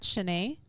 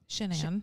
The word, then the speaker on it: Shanann: At the time that Shanann was, it's really hard for me because it's spelled like my name, Shannon almost. So I want to say Shannon all the time.